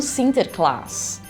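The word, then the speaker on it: Sinterklaas: e eles e eh pronunciam o nome como sinter clus e sinter clus vai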